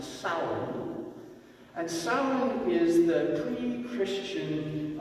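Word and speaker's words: Samhain: that word and puzzled that have you actually pronounced that it's not samueline that's how it would look in english but in gaelic it's actually pronounced sour and salmon is the pre-christian gaelic celebration of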